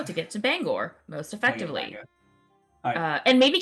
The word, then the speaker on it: Bangor: to say pronounce that Bangor how is that spell b-a-b-a-n-g-o-r e-n put that in there we're just gonna go with Bangor because Bang uh Gore nice bang and Gore bang and Gore uh